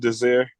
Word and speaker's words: Desire: I apologize. He told me last night. It's pronounced Desire. Desire.